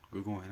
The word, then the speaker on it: Gregorian: Gregorian. I said it right because it's like Gregorian, like the Gregorian calendar.